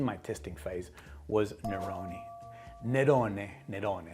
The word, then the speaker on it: Nerone: Nerone, let's say it like the Italians.